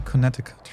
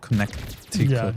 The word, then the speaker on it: Connecticut: I say Connecticut, right? Not Connecticut. Yeah, Connecticut. The C is silent.